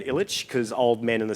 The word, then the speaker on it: Ilic: I've anglicised my name. So Dan Ilic is kind of how I've been saying it. But this year I've decided to go by the way I meant to say it, Dan Ilic, because old men in